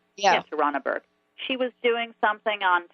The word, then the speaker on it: Tarana Burke: Activist and writer Tarana Burke said, it's time to focus on the systems that allow sexual violence to flourish.